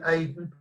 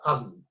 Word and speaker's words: Aden: The British call it Aden. I'm told you speak Arabic, it's really pronounced Aden.